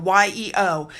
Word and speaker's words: Yeo: painted by artist Jonathan I think you pronounce it yo Yeo it was actually commissioned